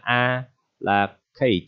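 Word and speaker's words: à la carte: Thì đây là cách viết của tiếng Pháp ha, và đọc là a là kate, ok, allocate.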